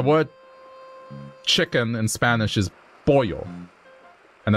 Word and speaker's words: pollo: The word chicken in Spanish is pollo. And it's spelled P-O-L-L-O. But it's pronounced P-O-Y-O. So that's what it was. So they would have said polo instead of pollo.